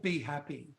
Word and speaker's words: BHAPI: A lot of people calling it Bappy because it's spelled BHAPI. So depending on how you phonetically speak, like for me, it was automatically Be Happy, but I get Bappy as well.